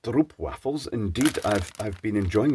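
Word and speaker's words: stroopwafels: Treats it's known for three things first they're pronounced stro waffles indeed I've I've been enjoying the STP waffles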